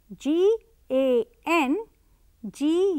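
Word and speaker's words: gangue: dang note the spelling g a n g u e yes it's pronounced as gang so these impurities need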